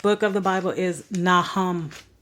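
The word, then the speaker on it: Nahum: Micah the next book of the Bible is naham naham n a h u m the next book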